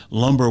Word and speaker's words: Lumbee: Lumber because so much Lumber was sent down that Lumby river that people just began referring to it Lumber they forgot the fact it was originally lumbe or something close to that pronunciation and so North Carolina